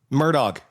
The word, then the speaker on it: Murdaugh: I I have not been able to think this entire segment because how the is this name pronounced? Murdoch.